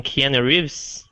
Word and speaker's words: Keanu Reeves: pronunciation, Keanu Reeves.